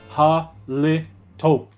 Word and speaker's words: Halito: That's why that's why when I said halito, it's it's pronounced halto like you're saying hello.